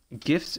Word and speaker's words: GIF: Well, Well, I pronounce it GIF, and I'm always going to pronounce it GIF. But the creator apparently wanted it GIF. I like GIF because it sounds like you're giving a gift to somebody.